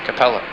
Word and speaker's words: Capella: and Auriga's brightest star is pronounced Capella.